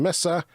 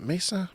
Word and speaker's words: Mesa: sitting on our Terrace and missa Arizona is it Mesa Mesa Arizona I've been there I